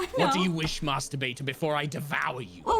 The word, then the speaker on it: Master Baiter: You gotta say it like Master Bater. You have to say it with the flow. It's one word. It's one name.